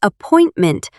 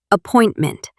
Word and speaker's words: appointment: When I say appointment, I stress the second syllable. appointment. That stress pattern makes it sound natural.